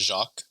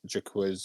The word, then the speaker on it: Jaquez: Yeah, I'm like 100% sure that's pronounced Jacques. No, it's a It's typo. So what Doug typed is a typo. It's actually Jaquiz, or it ends with a Z.